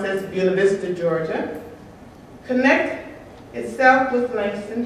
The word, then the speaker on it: Buena Vista: kid who grew up in a town we pronounced as Buena Vista Georgia connect itself with Langston Hughes how not